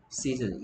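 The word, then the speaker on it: season: 세손 아니고요. 시즌. EA가 E나 A가 되는데 여기서 E가 됐습니다. 시즌.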